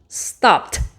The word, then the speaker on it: stopped: Stopped. Stopped. Stopped. Terminaría en T ese sonido del ed.